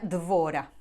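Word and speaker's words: דבורה: En hebreo se pronuncia Dvora. Claro, si yo busco la gematria, es decir, si sumo el valor numérico de cada letra, el nombre Dvora va a sumar 217.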